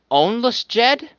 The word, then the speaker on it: Ounlisjed: she was typing um it's gonna be pronounced ownless Jed huh understood oh you know